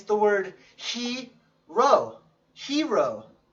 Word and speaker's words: rho: this is the word Rho even though it says even though it looks like a P in Greek it's pronounced Rho Rho so our age